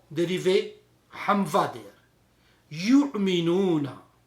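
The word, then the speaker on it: يؤمنون: And it is also used yu'minuna. When you read yu'minuna, on the waw there is a hamza there. Yu'minuna.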